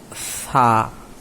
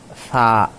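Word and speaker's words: ث: জিহ্বাটা একটু বাহির করে দিতে হবে, 2 দাঁতের মাঝখানে জিহ্বাটা বাহির করে বলতে হবে সা।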